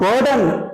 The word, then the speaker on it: pardon: तो मैंने जान के गलती बोली, इट इज नॉट पर्डन, इट इज पार्डन। आर is silent, it इज पार्डन सर, पार्डन me please.